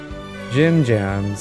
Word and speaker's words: Gym Jams: Am I pronouncing the name correctly, by the way? Gym Jams.